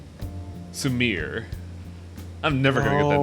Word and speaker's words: Sumire: It's okay to just call me Sumire. Sumire. I'm never gonna get that name right. Sumire. Sumire. You sound 3 like syllables. You sound like Larry the Cable Guy every time you say it wrong.